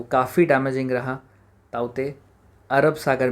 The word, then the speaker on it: Tauktae: And then बात करें बिल्कुल प्रेजेंट की, साइक्लोन ताउते। लिख हम रहे हैं TAUKTAE, बट it will be pronounced as ताउते। इसको हम ताउते कहेंगे।